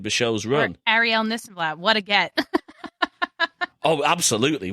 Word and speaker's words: Nissenblatt: If you search this and that, my last name is Nissenblatt, so this and that rhymes with Nissenblatt.